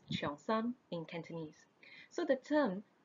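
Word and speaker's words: cheongsam: changshan or the long road changshan is actually pronounced chiang sang in cantonese so the term chiang sam was originally associated more with menswear early tea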